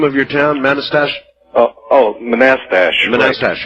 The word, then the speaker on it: Manastash: All right, how do you pronounce the name of your town, Manastash? Manastash.